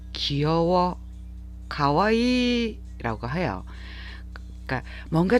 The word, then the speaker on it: かわいい: 이 하고 끊지 마시기 바랍니다. 이를 길게 발음하시고요. 가와이 뭐 일본 연예인들 대표적인